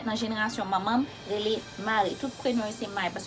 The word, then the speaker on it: Marie: Pour différencier prononciation et spelling là et orthographe là, Marie M-A-R-I-E prononcé Marie, Mari, M-A-R-Y, prononse mare.